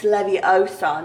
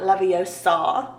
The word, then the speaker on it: Leviosa: And we have a silhouette of Hermione Granger, which says, you're saying it wrong, it's Leviosa, not Leviosa, which is amazing.